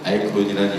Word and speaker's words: iKON: 근데 아이콘의 스펠링이 ICON인데 저는 좀 더 의미를 부여하고자 이 친구들이 한국을 대표하는 K-POP 스타의 대표 주자가 됐으면 하는 마음에 C 대신 K자를 쓰게 됐습니다. IKON으로 아이콘이라는 이름을 정식으로 쓰게 되었습니다.